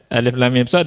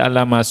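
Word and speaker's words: المص: Alif lam mim shad dibaca alam mas. Nah itu ngawur itu ya.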